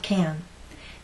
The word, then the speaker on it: can: There are two ways we can say this word, stressed or unstressed. Let's first look at the pronunciation when can is stressed. The phonetic transcription looks like this. As a stressed word, the vowel sound is going to be long and strong.